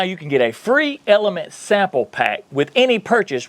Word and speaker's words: LMNT: Element, pronounced Element, is an electrolyte drink mix and an electrolyte sparkling water.